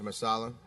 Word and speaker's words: Marsala: I hope I'm pronouncing it right. Mr. Marsala, you have the floor. Yes, you are, Judge.